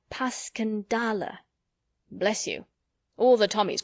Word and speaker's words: Passchendaele: Because that's the way I pronounce it to myself, but I looked it up, and it's more like Paskendale.